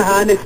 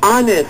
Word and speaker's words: honest: hest H H na hest pa ha ate Tatama kita silent h dapat yon okay honest sabiin mo ah hest ayan hindi